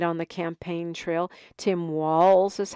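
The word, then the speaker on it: Walz: the campaign Trail Tim Walls is how you say his name the Z Sounds like an S Tim Walls I know a lot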